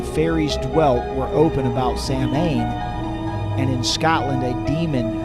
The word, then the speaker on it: Samhain: And in the Standard Encyclopedia of Folklore, Mythology, and Legend, it says this about Samhain. It says Samhain, and it's pronounced Sovan or Sowan.